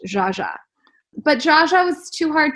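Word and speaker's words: Zsa Zsa: I love Zaza Gabor I was pronouncing her name wrong for years and years and years thinking that was her name and so when it came to like finding names for my daughter the first name on the list was Zaza but I didn't realize her name's actually pronounced jaaja but Jaa was too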